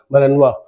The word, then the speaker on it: Malinois: इनका नाम जो है बेल्जियन मेनय और प्रोनाउंस ए मनवा ये पड़ा है बेल्जियन मनवा र ब्रेड टू बी